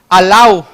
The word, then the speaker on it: alau: pero dice la palabra, hay 3 sílabas, la sílaba A, en este caso es una vocal, la sílaba la y la sílaba gua. Nos dice cómo se leía la cancha alau.